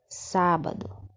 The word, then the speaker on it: sábado: essas sílabas destacadas não é nessa primeira palavra sábado no sábado uma palavra de três sílabas e a antepenúltima sílaba não é é a sílaba tônica é a sílaba forte sábado quando eu pronuncia sábado os a é sai